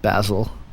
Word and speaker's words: Basil: Basil. Basil and Gonz. And it's spelled like basil. Like the herb. Like the herb. Only it's a name.